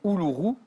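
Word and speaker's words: Uluru: quand le soleil vient jouer dessus le Monot houourou u l u R u mais reméy l'a très bien prononcé peut-être que d'ailleurs reméy l'a vu j'ai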